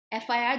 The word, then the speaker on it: FIR: FIR, the pronunciation is F, as in I am saying AFF, and that's why an will come.